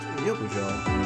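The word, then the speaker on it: 欲情: In Japanese, bathhouse and lust are both pronounced yokujo, and it got converted the wrong way.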